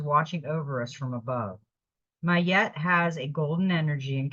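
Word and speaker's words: Ma'at: got the Divine master and this is she's pronounced mayette mayette is divine intervention weigh up your options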